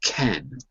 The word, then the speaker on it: can: The word can has at least 3 different pronunciations, 3 different ways to pronounce. If it's positive, we don't say can, we say ken.